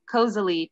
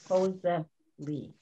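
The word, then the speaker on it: koselig: and that's um that's all fika hygge and kozily too that's really nice for you to share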